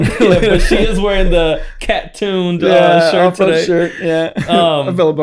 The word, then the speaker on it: CA Tuned: And a lot of times people can't, like, they usually say cat-tuned. They don't say CA. CA is California tuned, yeah. And then obviously I'm the off-road division, but people say cat-tuned off-road or cat-tuned.